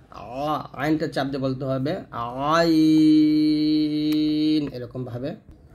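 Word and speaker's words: عين: তারপর হচ্ছে আইন আইনটা চাপ দিয়ে বলতে হবে আইন এরকম ভাবে তো আইন এর গাণিতিক মান হলো 70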